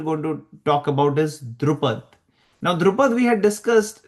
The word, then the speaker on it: Drupad: And then Drupad performed a massive fire and just to kill Dronacharya, and I think the Pandavas killed Drupad, or Okay, so you said it right.